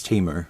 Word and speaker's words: Temu: Teemo however it's pronounced I thought it was TAMU but people told me it's Teemo it doesn't really matter